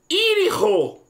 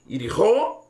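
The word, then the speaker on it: יריחו: O caminho, Yerihó, ou Yerihó, Essas duas pronúncias também estão certas. Yirho ou Yerihó.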